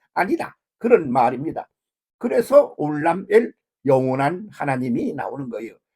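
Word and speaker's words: עולם: 그래가지고 그것을 알람이라고 그랬다가 발음을 올람이라고 그랬어요. 그래서 올람.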